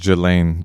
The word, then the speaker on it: Ghislaine: I think it's pronounced Jelaine.